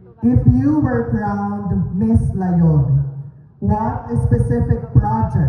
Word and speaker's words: Layog: May napansin ako partner ano yung partner ang pronunciation ng ating barangay is layog layo Yes not layo Okay candidates layo not